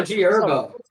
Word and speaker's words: G Herbo: It's also G Herbo. The H is silent, bro. What? The H is silent. It's G Herbo.